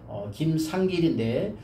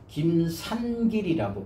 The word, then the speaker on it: 김상길: 이응 발음이 없어서 내 이름을 이야기할 때도 김상길인데 김산길이라고 불러요. 니은자를 해가지고 산길이라고 그렇게 부르거든요.